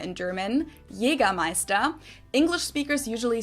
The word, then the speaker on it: Jägermeister: From shoes to alcohol, this is pronounced Jägermeister in German, Jägermeister. English speakers usually say Jägermeister, which is pretty much the same, just with a pretty thick accent.